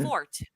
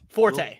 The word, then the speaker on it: Forte: Okay, Will Fort. Forte. He did a good job. Who? Yeah. Will Forte.